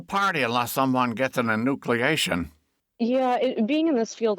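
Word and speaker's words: enucleation: Natalya, you've got something that involves the word, am I pronouncing it right? Inucleation.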